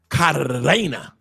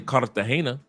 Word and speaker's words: Cartagena: that don't speak Spanish, Cartagena. Cartagena. Because y'all don't know how to pronounce Cartagena. Roll your tongue. Cartagena. It's not Cartagena, it's Cartagena. I'll say it again. It is not Cartagena. It's Cartagena. Cartagena.